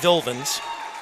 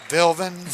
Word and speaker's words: Bildens: Yeah, and that is Brady Bildens is the pronunciation of his name. Bildens.